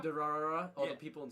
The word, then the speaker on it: Durarara: You ever seen I don't know how to pronounce it. Durara? Durarara, all Yeah.